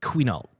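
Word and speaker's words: Quinault: Uh it's qual river valley.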